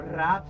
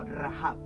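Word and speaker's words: רַהַב: así como rahab rahab no rab sino rahab y este rahab en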